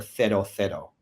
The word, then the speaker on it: cero: And for that, you would ask for a cero. So that's how you would pronounce it with the Spanish th.